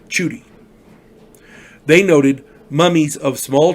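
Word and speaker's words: Tschudi: want to say is i'm going to say it's judy it spells t-s-c-h-u-d-i that's how it's spelled i i want to get his name right because everybody deserves to have their name right rivero and shooty chuty they noted mummies of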